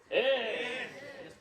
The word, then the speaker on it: ich: Ish.